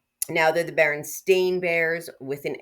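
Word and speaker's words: Berenstain: Now, they're the Baron Stain Bears with an A. Although, I think we pronounced it Baronstein Bears, but we knew there was an E.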